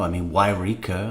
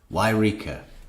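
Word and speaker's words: Yreka: Wairika up in Jody Arias' town is, how do you spell it? Wairika. Y-R-E-K-A. And from that they get Wairika.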